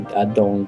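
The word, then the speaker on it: Ardougne: Okay, so yeah, this is south of Arnay, or Adong. I've heard it, people with Jagex say Adong, but I prefer Arnay. It sounds better. It may not be the right pronunciation, but Adong sounds just stupid.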